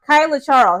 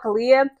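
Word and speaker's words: Kaila Charles: Now Kyla Charles I keep want to call her Kalia. Gorgeous girl. Okay. She out there from Maryland. That's where she from. Kyla Charles. That's how you pronounce it.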